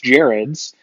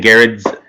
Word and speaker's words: Gerads: favorite writers, and then his longtime collaborator, Mitch Gerads. Tom King has written a lot of other great books. Gerads. I want to say Gerads. It's Gerads. Mitch Gerads. I have been saying Gerads for the longest time, and then I just